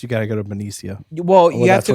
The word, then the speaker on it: Benicia: Benicia. And That's how while they he's say it. there, The locals say it.